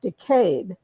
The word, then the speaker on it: decade: So while we refer to, in the US, we refer to a 10-year period as a decade, in Britain, for many, it's pronounced decade, which is kind of